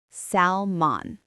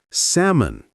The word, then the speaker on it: salmon: Many people say salmon. Right. But again, the L is silent, so it's salmon.